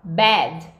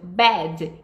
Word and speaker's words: bad: Então, quando a gente vai falar mal, a gente fala bad. E aí, abram bem a boca mesmo. Bad, que é diferente de bed. Bed.